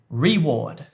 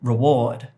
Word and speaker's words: reward: So, I said reward, when in fact the stress is on the second syllable, reward, reward.